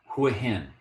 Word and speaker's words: Hua Hin: with an H here's another one sorry clearly who a hen go on to the next one here is